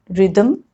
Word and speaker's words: rhythm: Rule number 3, H is often not pronounced when it comes after C, G or R. Like in these examples, choir, chorus, echo, ghastly, aghast, ghoul, or rhinoceros, rhyme, rhythm.